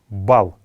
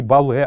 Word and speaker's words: бал: Бал — это мед, бал. Бал, не бале, а именно бал нужно произносить его.